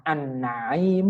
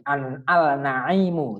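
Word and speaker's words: النعيم: seperti contoh yang terakhir Al yang bertemu dengan Nun tim bacanya an-na'im Uh tidak lagi dibaca warna MI Al naimu tidak begitu tapi tulisannya tetap ditulis Al kemudian baru huruf selanjutnya Nur Tapi bacanya an-na'im anak-anak semua tentunya mudah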